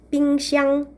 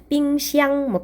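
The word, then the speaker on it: 冰箱: 빙샹, 빙상. 중국어로 발음으로. 빙샹.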